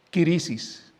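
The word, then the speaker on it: κρίσις: que más se usa, se escribe de esta manera, kirisis. ¿A qué le suena esa palabra? A crisis.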